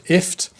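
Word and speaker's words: IFTTT: i talked about was ift it's basically gift without the g so it's pronounced if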